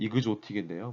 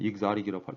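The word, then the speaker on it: exotic: 왜 헷갈리는 게 만들어지냐면 이런 거를 익사릭, 뭐 우리 콩글리시는 이그조틱인데요. 뭐 미국 애들은 익사릭이라고 저도 발음이 좋지는 않지만 익사릭이라고 하고 하이브리드 시큐리티라고도 하고요.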